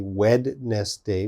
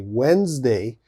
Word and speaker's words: Wednesday: next one wednesday okay so wednesday has a d in the spelling there's a d but of course we don't say wed nest day we say wednesday so lots of students